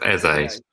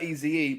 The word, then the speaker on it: Eze: Pronounced Eze. Eze, that's how we do it. I prefer Eze, but okay, Eze's fine.